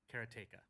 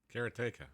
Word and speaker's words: Karateka: But then I've heard people say Karatika, Karateka, and Karateka in other ways. But Karatica is the way I've said it, and I